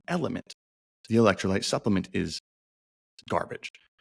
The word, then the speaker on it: LMNT: how to say it for the longest time element lmnt element electrolyte supplements and I almost said electrolyte supplements